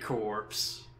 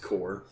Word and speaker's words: Corps: Expanding the Nokia corpse. Core. It's, I know, it's spelled weird, but it's pronounced core.